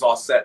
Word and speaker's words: Auset: She's like, so I looked up a bunch of different versions of it, and the Egyptian pronunciation is Auset.